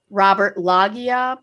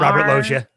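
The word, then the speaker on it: Robert Loggia: Fefeifer, Mary Elizabeth Master I'm gonna say her name wrong. Antonio, Robert Lagia, Paul Shinar, Robert Loia.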